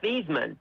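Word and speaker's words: Theismann: uh you know Joe Seisman's name was actually pronounced theman until he got big in college and his coach said listen son it's a Heisman trophy not a Heisman trophy so he changed his name he changed the way he pronounced it to Joe Seisman and he ended up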